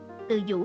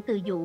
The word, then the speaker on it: Từ Dụ: Từ Dũ là do phát âm sai của Từ Dụ mà ra.